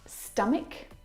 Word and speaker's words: stomach: Words like stomach and ache. The CH in all of these words is pronounced like a K sound.